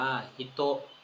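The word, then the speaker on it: 人: อโนหิต อโนหิต ฮิตโต นะ ฮะ อ่าน ว่า ฮิตโต ครับ ฮิโต ดาเล เดสกะ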